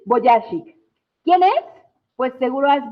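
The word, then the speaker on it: Vujicic: Se pronuncia, eh, ya lo perdí. Eh, Boyashik, Nick Boyashik, ¿quién es?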